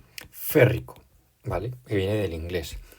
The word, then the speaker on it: férrico: como muchos elementos y no se dice yrico lo que se dice en su lugar es férrico vale que viene del